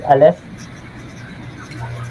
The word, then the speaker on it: Aleph: So now, magkaroon na tayo ng Aleph tab and we will recognize the consonants.